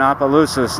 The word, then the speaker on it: Opelousas: I'm in Opelousas now. and I'm finally pronouncing it the right way.